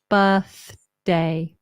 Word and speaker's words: birthday: Noah it's actually easier relax the tongue birth birth birthday birthday birthday the tricky thing is the th to the D birthday birthday you have to be quick lot of tongue action okay another thing you